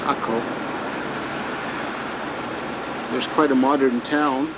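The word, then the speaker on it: Acre: is A-C-R-E, but it's pronounced Akko.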